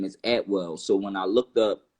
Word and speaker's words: Atwell: my last name is Atwell so when I looked up you know at well you know it you know I came to the uh a saying that saying is actually pronounced at will and it's a British